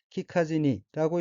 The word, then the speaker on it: 聞かずに: 넷째 줄 엎긴 한자가 들을 문자가 들어있고 일본어로는 키카지니라고 읽으며 키카지니는 키쿠, 듣다의 쿠가 부정형인 지니, 뭐뭐 않고 앞에서 아다닌 카로 바뀐 형태로 키카지니는 듣지 않고 란 의미입니다.